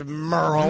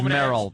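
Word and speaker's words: Merle: There is no way this is Merrill because it's M E R L E. It's Merl. It's Merl.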